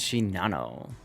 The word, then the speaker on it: Shinano: 100% primary interest is shinano by the way if you watch the the naval Legends video It's pronounced Chino somehow I don't know why all right so